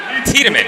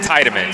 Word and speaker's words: Tiedemann: It was Julie Tiedemann who took the win, not Tiedemann.